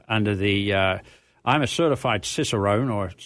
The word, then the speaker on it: Cicerone: Like we're talking about, under the I'm a certified Cicerone, or Cicerone is the correct Italian pronunciation of it.